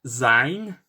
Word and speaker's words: zijn: spelled S-E-I-N, while in Dutch, it's more like zijn, and it's pronounced, it's written Z-I-J-N.